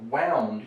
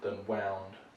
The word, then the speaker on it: wound: a winding process right so wound you could have it in that pronunciation as the past tense form of wind but in terms of injury wound something you might get into war that's a much more common word probably than wound uh in the sense of